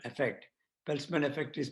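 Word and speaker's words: Peltzman: health center in a comprehensive review of the peltsman effect pelzman effect is pronounced as p-e-l-t z-m-a-n published in the acp journals on 2nd march 2021.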